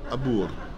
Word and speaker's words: abore: The E is probably not pronounced. The O is pronounced U. Mm-hmm. And so you should have abur.